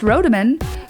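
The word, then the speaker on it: Rodemann: case you didn't know my last name is pronounced rodaman but my handle is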